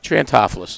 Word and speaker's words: Triantafilos: Pronounce your last name so I get it right. Triantafilos. That's the East Baltimore pronunciation. That's not the way Triantafilos is the, all right, if you want a little Greek flair to it.